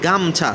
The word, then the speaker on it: গামছা: গাম ও ছা কিন্তু এইখানে যখন আমরা এটাকে উচ্চারণ করতেছি গামছা তার মানে এই ও ধ্বনিটা কিন্তু কার আমার এখানে উচ্চারিত হচ্ছে না তাহলে গামওছা গামছা তাহলে